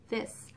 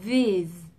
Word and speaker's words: these: Ví dụ như trong từ these, trước khi mình hay đọc là this, this. Thật ra nó là these.